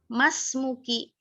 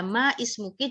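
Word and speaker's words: ما اسمكِ: disini dinamakan Hamzah washol Alif disini dinamakan Hamzah washal maksudnya nyeken dia gugur bacaannya dia tertulis alisnya tertulis tetapi membacanya gugur kalau ada huruf sebelumnya ada huruf sebelumnya lihat Mah niatan Mah di sini maka kita bacanya emas mungkin masmuki nya kan Tapi nggak papa kalau kita mau baca Ma ismuki juga enggak masalah oke Mak mau ngasih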